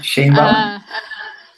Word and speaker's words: Sheinbaum: La otra vez estaba escuchando fue al Colegio de México Claudia Shasha, no puedo pronunciar bien su apellido. Sheinbaum.